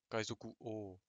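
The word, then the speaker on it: 王: O, Kaizoku O. O, c'est O-U du coup, mais ça se prononce O.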